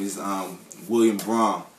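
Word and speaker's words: Brahame: name is um William Braum. B R A H A M E. Not Brahham or Brai.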